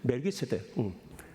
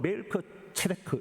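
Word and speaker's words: מלכי צדק: 멜기세덱. 히브리 발음을 하면 멜크 체데크 이래요.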